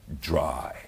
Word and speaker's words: dry: 그래서 dry가 아니라 dry. 이렇게 좀 깊숙한 소리로 dry 이렇게 해주시면 여러분 귀가 뚫립니다.